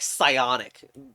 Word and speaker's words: psionic: could also be like some words start with like psionic and the p is silent but here it's F